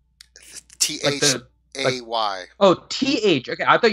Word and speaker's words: Thay: He would be, you would assume, from Thay. He is a thing. From Fae? Yeah. With an F? T-H-A-Y. Oh, T-H. Okay, I thought you were saying Fae, like F-E-Y. No, Thay.